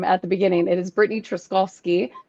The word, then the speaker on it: Brittany Truszkowski: Um, and I did not pronounce my name at the beginning. It is Britney Troskovski.